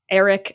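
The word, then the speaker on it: Erryk: And she sent one of her little minions off to contact Eric and Eric, which is two twins, both basically pronounced Eric, but one is spelled with an E and one is spelled with an A.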